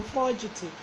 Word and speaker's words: forgetive: So fugitive. It sounds like forgetting, but it's not forgetting. It is fugitive, like from the word forge.